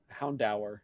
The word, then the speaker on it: Houndour: Just like Houndour and It's Houndour.